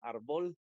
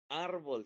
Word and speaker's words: árbol: La sílaba tónica no puede ser la última porque diría árbol y esa palabra no existe. Pero árbol sí.